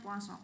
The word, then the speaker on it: Poisson: mengenai persamaan kosong ya tulisannya faisol ya Tapi bacanya puasa karena dia dari pelafalan bahasa Perancis ya Eh jadi pada materi